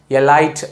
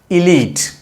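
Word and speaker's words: elite: உயர்குடியை குறிக்கிற இந்த வார்த்தையை எலைட் அப்படின்னு சொல்லக்கூடாது. மாறாக இலீட் அப்படி தான் சொல்லணும்.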